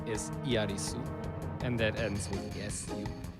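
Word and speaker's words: エアリス: Earth, that's true, but the way that the Japanese pronounce her name does not sound like a TH. They don't say Aerith, they say Iarisu. And that's like an S.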